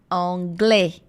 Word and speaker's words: anglais: Je parle anglais, anglais. A com I é som de E, a gente já sabe disso.